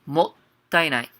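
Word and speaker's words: もったいない: So the pronunciation, make sure you guys give it a little break between the mo and ta. So it's もったいない.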